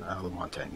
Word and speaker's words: Lamontagne: I have a letter from Art Lamontagne. Is that how you pronounce it? Lamontagne, yeah.